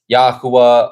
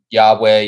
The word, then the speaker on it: Yahweh: Um it's the shortened version of Yahwa or Yahweh Yhovah. Yhovah, however you want to pronounce it.